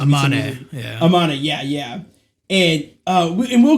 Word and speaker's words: Amane: Oh yeah, you said Misa Anme, or I think it's Amane.